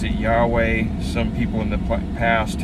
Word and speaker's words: Yahweh: I am was God's name in English we pronounce it Yahweh some people in the past have have pronounced